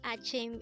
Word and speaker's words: 아침: at day angle word number 52 the word Achim is simply the Korean term for morning again